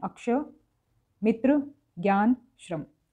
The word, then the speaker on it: ज्ञ: वैसे तो इसका उच्चारण होना चाहिए ज्य, लेकिन इसका उच्चारण ज्ञ की तरह ही होता आया है। शुद्ध उच्चारण वैसे इसका ज्य होता है, लेकिन ज्ञ उच्चारित करते आए हैं तो इसलिए यही चल गया है।